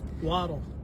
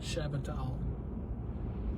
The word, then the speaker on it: Waddle: Waddle. That's Waddle, not Shabatal. Is that how you pronounce it?